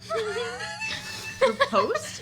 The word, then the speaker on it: riposte: Riposte? Is that what? It's riposte. Riposte. It's French.